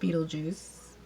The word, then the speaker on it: Beetlejuice: out because it's not it's pronounced Beetlejuice but it looks like Beetle guys or something I think